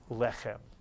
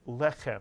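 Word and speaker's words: לחם: together is not only teach you how to pronounce the word lechem with the Hebrew letters lamed, chet, and mem, but I also want you to become comfortable with what these words mean.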